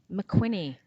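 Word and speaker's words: McWhinney: Winnie I know Winnie I thought there was a cue in there yeah it sounds like a cue that okay go on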